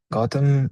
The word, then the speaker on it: Gotham: Gotham is pronounced like the city in Batman.